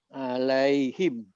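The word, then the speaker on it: عليهم: Ini bacanya Alaihim. Alaihim. alaihim. Karena sebelumnya ada ya Ya, sukun. sukun.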